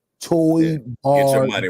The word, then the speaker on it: Toybarr: So I want to shout out our sponsors, and I've been saying it wrong for the last couple of weeks. Let me say it correctly. Toy Bar.